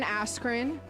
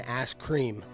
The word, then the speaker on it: Askren: been telling you guys Ben askren you said it wrong it's it's been asked cream is that really it